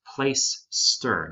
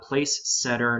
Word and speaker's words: Placester: to pause real quick that's pronounced place ster not place setter not plat caster not play caster it's place ster plaister all in word place ster okay that's how you pronounce that so that you sound